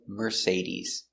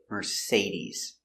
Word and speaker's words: Mercedes: Our next car is Mercedes. Say, we pronounce the second syllable. Say. Mercedes.